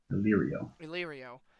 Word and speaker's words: Illyrio: Illyrio.